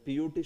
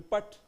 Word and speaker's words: put: So then P-U-T should be pat. Why it's not pat? It's put. So B-U-T is but P-U-T is put.